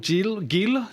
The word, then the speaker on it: Geel: have here with me in the studio Florent Geel, is that how you pronounce it? Geel in English.